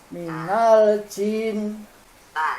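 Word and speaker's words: مِنَ الْجِنَّةِ: Nah, harusnya dibacanya jangan ada suara desis Pak. Pas minal ji. Minal jin. Nah, jangan ada suara desis. Ji. Ji. Ada napas yang keluar. Jangan sampai ada desisnya Pak.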